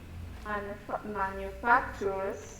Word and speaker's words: manufacturers: No, remember, cuando tienes el ture, se pronuncia chair. Por ejemplo, culture, cultured. Yeah, so digo manufacture. Ahora le agrego la S.